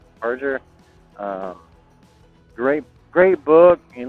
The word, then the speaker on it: Barger: Um another book I really enjoyed is Hell's Angels by Sonny and I always pronounce his last name wrong, but it's like uh Barger. Barger.